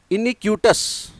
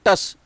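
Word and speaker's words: iniquitous: और इसी का एडजेक्टिव होता है इनिक्यूटस, इनिक्यूटस। ये टी का उच्चारण होगा, टी को प्रोनाउंस करेंगे, टी को साइलेंट नहीं करेंगे, सस नहीं पढ़ेंगे, टस, इनिक्यूटस।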